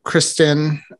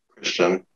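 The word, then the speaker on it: Kristian: think of, you know, Kristen Alfonso. Did I say her name right? Christian. Oh. You said Kristen.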